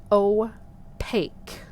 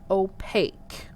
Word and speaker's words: opaque: how it's spelled there it's o pake okay that's a long o and then a long a and then the q is a k sound like a k and then the u and the e are silent so opaque opaque materials